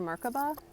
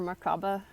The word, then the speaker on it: Merkabah: recommend that um so activate your mark above or markaba depending on how you say it I say it Merkabah so you know phonetics mark the way I talk so anyway doing